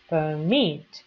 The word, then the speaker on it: permit: Permit, y ahí tengo la acentuación en meet, permit.